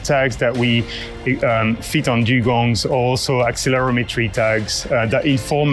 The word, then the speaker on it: dugong: drones to save uh dugongs the d-u-g-o-n-g-s is that the pronunciation that's right yep dugong yeah so this